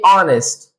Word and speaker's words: honest: دغه رقم دا لغت ویلی کېږي honest. نو چې honest شو واول ساوند شو مخکې به دې ان استعمال کو. unhonest h پکې نه تلفظ کېږي.